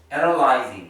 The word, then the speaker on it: analyzing: analyzing 시작 스펠링 시작 analyze zing이에요. zing. sing 하지 말라고.